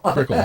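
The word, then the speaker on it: Brickell: they do and they just open up in Brickle they did yes did I pronounce that right yeah Bickle see when you're in Palm Beach you don't it's not brick house it's Brickle Brickle okay they just open up a new new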